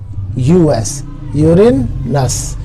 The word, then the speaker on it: Uranus: URANUS यूरेनस, यूरेनस कहते हैं इसको, यूरेनस इंग्लिश में इसकी प्रोनाउंसिएशन है यूरेनस। अस को अलग करके पढ़े, यूरेन को अलग करके पढ़े तो यूरेनस बन जाएगा।